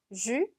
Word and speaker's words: jus: jus. 마지막 s는 발음이 되지 않고요. 여기 나와 있는 ü 발음 기억나시죠? 입은 우, 소리는 이, 그대로 주.